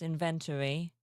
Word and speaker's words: inventory: See, I pronounce inventory to rhyme with story, more or less.